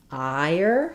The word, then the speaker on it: hire: instead they say the higher. So looking at how it's spelled in this word can be helpful because we do have higher wire higher etc.